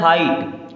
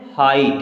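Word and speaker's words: height: रंग क्या पढ़ेंगे रंग एच ई आई जी एच टी इसे पढ़ना है हाइट क्या पढ़ना है हाइट यहां जी एच हो जाएगा साइलेंट चलिए उसी प्रकार आगे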